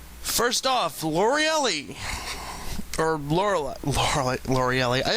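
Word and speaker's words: Lorelei: to call her loreli it's actually laureli but just the way her name is spelled I always used to think hey it's loreli yeah whatever her Pokemon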